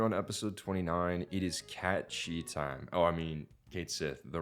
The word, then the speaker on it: Cait Sith: And here on episode 29, it is cat chi time.